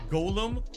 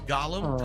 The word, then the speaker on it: Gollum: see from John Lambo why are you pronouncing Golem col and wrong is that a Connecticut accent a yes we say colum colum and rooftop that's how we pronounce words no it's Gollum colum and rooftop that's how we say it if that doesn't sound